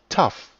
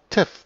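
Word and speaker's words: Thav: in Wirklichkeit ursprünglich von dem chaldäischen Taf, T-H-A-V, das gut bedeutet, stammt, welches berechtigterweise auch Tef, T-H-E-V, ausgesprochen wird und in der bestimmten Form Teva oder Tevo das Gute heißt.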